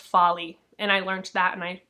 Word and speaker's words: Foley: Oh my gosh, it's actually pronounced Folly, and I learned that, and I'm sorry, Lucy.